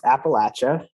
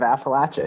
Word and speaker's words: Appalachia: Yeah, so I did not know that's how you pronounce Appalachia, but forever now I will just think about throwing apples at people when I think of Appalachia.